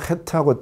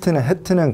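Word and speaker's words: חית: 그래서 헤트가 나오면은 헤트에서 여기 목에서부터 헤트 이렇게 나와야 돼요.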